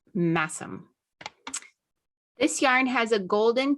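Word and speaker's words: Masham: okay here's my yarn for today oh it's mashem dk and let me okay naturally died by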